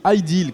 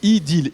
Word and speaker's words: Ideel: c'est l'objet de l'idylle highdeal quand on prononce idylle idylle idée de the hell